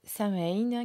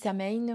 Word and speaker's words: Samhain: dans le sabbat de Samhain qui approche à grands pas. Alors certains disent Samhain, moi je dis Samhain, parce que c'est un peu comme ça que ça se prononce généralement.